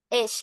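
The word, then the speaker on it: إيش: Tapi kalau di amiyah disingkat jadi esh. Esh bunyinya gitu. Ayyu syai'in jadi esh. Padahal sama-sama ayu syai'in, akhwat, sama-sama ayu syai'in, cuman pengucapannya aja yang disingkat ish gitu.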